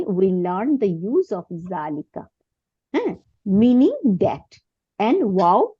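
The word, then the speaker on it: ذلك: এটাই এখানে বলছে যে জালিকা ইজ প্রোনাউন্স জালিকা বাট ইট is written without আলিফ আচ্ছা দুই নম্বরে কি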